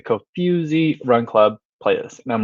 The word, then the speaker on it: Kofuzi: with a few like the not foo but the few like the co-fusy run club playlist and